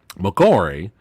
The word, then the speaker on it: McCoy: But, excuse me, McCoy.